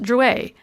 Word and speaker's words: Druitt: and touching his name it's pronounced druey our family was french on my father's side she looked at it